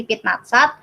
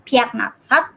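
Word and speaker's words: пятнадцать: Nah, sama seperti pit natsat, ini bacanya bukan piat natsat, tapi dibacanya jadi pit natsat.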